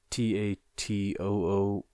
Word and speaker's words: Tatooine: I know it sounds like Tatooine, but the way they spell it, and they spell it every time, and it's even typed on there too. But it's Tatooain. I know that's not the same as the Star Wars one.